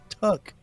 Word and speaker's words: Tuck: dude that you know his name rhymes with duck but his name is tuck he had something to